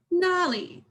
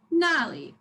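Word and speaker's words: 那里: The first word is nali. So first syllable is down, nali. And the second word, instead of sharp and down, it's deep.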